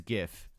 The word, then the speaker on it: gif: pronunciation of course yes how do you say gif it's gif all right only tristan circa 2016 says jiff all right so let's take